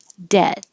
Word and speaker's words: debt: It looks like a B, but you don't hear a B at all. Debt. The vowel is like head, so keep your jaw more closed.